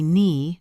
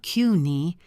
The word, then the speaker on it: knee: We say knee, not Qi. We say walking, not wool king. Being aware of these silent letters will help you hear the boundaries between words.